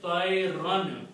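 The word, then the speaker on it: طَيْرًا: You don't pronounce, you just write it. That's the rule of writing. So the word is tayran.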